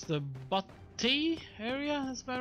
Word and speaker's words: Butte: It's the Butte area that's about right now.